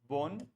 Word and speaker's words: bon: ये है बोन और ये है बों.